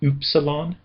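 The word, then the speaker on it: ύψιλον: Technically it's supposed to be a German obl u sound, not a regular u sound. Uh the best rendition of it that I can do is oopsilon.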